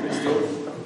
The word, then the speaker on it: Bastille: The historians mark the storming of the Bastille, that's how you pronounce it, the Bastille, the Bastille.